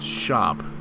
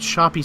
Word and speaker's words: Shoppe: use just the money I know it's pronounced shop but shoppy sounds funny you know shoppy heap